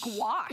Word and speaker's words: gouache: is acrylic wash gouache gouache yes it's like wash with a g in with a G